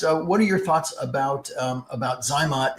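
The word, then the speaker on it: ZyMōt: Hi, Andre asks, what are your thoughts about Zymot in general, or Zymote as it may be pronounced, and particularly Zymot in a donor bank sperm?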